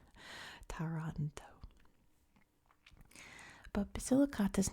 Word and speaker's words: Taranto: in the ionian sea it's really hard not to say Toronto like Toronto Canada taranto but basilicata is not